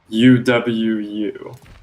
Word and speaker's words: UwU: Point at Legion and say boo, and also say UWU. Agree. Now Uh, let's take. All right. that is pronounced uwu.